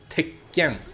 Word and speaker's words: Tekken: But when you say the word Tekken, that's the equivalent of a double consonant in English.